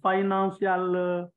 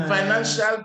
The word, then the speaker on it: financial: a file for the financial. The financial part, not financial. Yes, the financial part. Good. Please, C-I-A-L is pronounced shall.